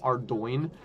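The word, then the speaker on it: Ardougne: No, that's a particularly hard word. And it does not sound at all the way it's spelled. And I think it was it wasn't until I heard like one of the like developers call it call it Ardo that I was like, that's crazy.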